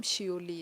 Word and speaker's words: Seouli: अच्छा प्रोनाउंस करने में आई थिंक आप लोगों को डिफिकल्टी होगी तो मेरा नाम शियोली है।